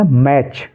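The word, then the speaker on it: match: silent है ऐसे ही एम ए टी सी एच इसको क्या पढ़ेंगे मैच मैच ठीक है एन ए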